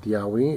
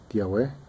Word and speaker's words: Tiahue: Let's go, vamos, or as Chicano is called, Tiahue, is actually pronounced Tiahue.